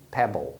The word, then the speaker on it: pebble: No B, então você pronuncia o E como E, que é o som curto. Pebble.